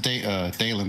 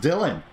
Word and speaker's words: Dylan: It's pronounced Dalen, by the way. No, it's pronounced Dylan. Oh. D-Y-L-A-N, Dylan. That, it would be Dalen if there was another A in there.